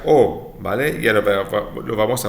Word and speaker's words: aux: pero no se pronuncia aux, se pronuncia o, ¿vale?